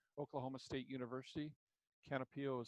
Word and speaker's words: Canopeo: Canopio is spelled CANOPEO, and it will give you a black and white photo.